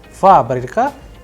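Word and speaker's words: фабрика: a very specific example fabrica where you have multiple wobbles isn't it? So you have fabric there. The stress is on first a that is why it is under stress.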